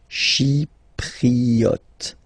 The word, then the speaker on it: Chypriote: She, remember this Y is pronounced like I, okay? Chypriote.